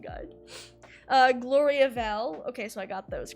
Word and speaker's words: Gloriavale: listen to this okay dragon mirror thank you pronunciation guide uh gloriavale okay so i got those correct and then